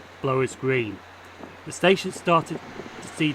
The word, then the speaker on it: Blowers Green: For some reason in the video I kept saying Bowler's Green, but it's actually pronounced Blowers Green.